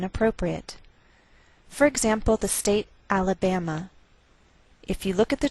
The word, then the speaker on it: Alabama: So the greater stress is on this third syllable. We say Alabama.